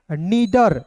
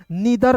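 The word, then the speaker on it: निडर: नीडर, नीडर होता है सही, नीदर कोई शब्द नहीं होता है।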